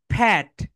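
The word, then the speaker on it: pet: সো my dear soldiers, এখানে যে বিষয়টা হয়, আমরা এটা রাইট প্রোনাউন্সিয়েশন করি না, এটাকে প্যাট বলি, প্যাট। পেট বলি না প্যাট বলি, কি বলি আল্লাহ ভালো জানে। এখানে রাইট প্রোনাউন্সিয়েশন হবে, বলো ফ্যাট, ফ্যাট।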